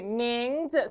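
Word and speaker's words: 名字: 누가 왔어요 발음해 볼게요 발음은 그렇지 밍즈 살짝 떨어집니다 밍즈 살짝 떨어져요 밍즈 오케이 무슨 뜻일까요 자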